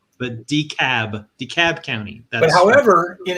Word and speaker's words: DeKalb: south and i moved into dekalb county not dekalb but decab dekalb county but however in illinois they do pronounce it dekalb and that's where barbwire was